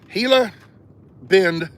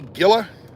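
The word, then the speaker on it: Gila Bend: we at right now we're in hila hila Bend Arizona g l a hila wait a minute wouldn't it be gilla gilla Gill Bend I know it's Spanish for hila Bend okay like a heila monster the little lizard thing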